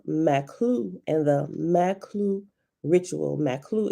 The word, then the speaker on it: Maqlu: Maklu is spelled Maqlu.